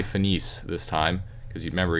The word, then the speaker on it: finis: as finit because remember, most of the time in French you do not pronounce the last consonant if there is a consonant on the end of the word.